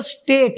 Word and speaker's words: pseudo: पश्चिम उदो कहते हुए लेकिन यह सूट है इसे आप लोग पी को हटा दो ठीक है मतलब पी साइलेंट है इसमें तो ठीक है